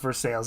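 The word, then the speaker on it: Versailles: for sales Hey listen in Pittsburgh it is pronounced for sales it makes no sense cuz right you would think it's a French word but there are no French people in Pittsburgh we pronounce our stuff any way we want to as I understand it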